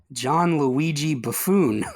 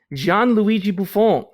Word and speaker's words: Gianluigi Buffon: Oh, that's Gianluigi Buffon. I cannot believe you would say one of the greatest players to ever put gloves on. It's Gianluigi Buffon.